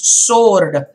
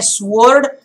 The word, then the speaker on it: sword: to remind you that it's sword its knots word it is sword this w here is silent you must not say swerd you must say sword that is the pronunciation when then there was